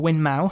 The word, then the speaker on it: Winmau: They've got Winmore, or Winmau, how they like to pronounce it.